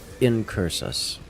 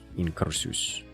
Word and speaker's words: Incursus: Um, the word is incursus. If you're saying it with an American accent, if you're going with I would presume more Greek Latin pronunciation, it would be something along the lines of incursus.